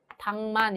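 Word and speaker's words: 닭만: 당만의 경우에 자, 우선 리을 기역 중에 기역만 발음이 되죠. 자음군 단순화가 일어나는데요. 얘는 리을이 탈락한 것이라고 볼 수가 있겠죠. 자, 그 다음에 이것이 미음과 만나게 되면 기역과 미음이 만나서 기역이 당만 이런 식으로 이음으로 바뀌어서 발음이 됩니다.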